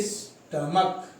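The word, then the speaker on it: stomach: जैसे स्टमक, last में सी एच है, रूल के अकॉर्डिंग हमको इसमें ई एस ऐड करना चाहिए, पर मैंने बताया था कि अगर सी एच का प्रोनाउंसिएशन चा आए तब तो आपको ई एस ऐड करना है, लेकिन यहाँ पर इसका प्रोनाउंसिएशन सी एच का है का, हम पढ़ रहे हैं स्टमक, इसलिए हमको ओनली अब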